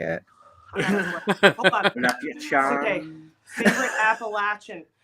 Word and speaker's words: Appalachian: Appalachian. Okay. Favorite Appalachian. You just remember apple at ya. If you don't say it right, I'm gonna throw an apple at ya.